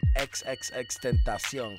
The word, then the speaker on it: XXXTentacion: By the way, that's how you say his name, XXXTentacion, for you people just absolutely massacring this man's name.